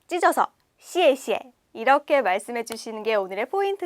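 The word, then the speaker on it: 谢谢: 첫 번째 단어 같이 먼저 함께 읽어 볼게요 시에시에 시에시에 잘 따라 읽고 계시죠 한 번만 다시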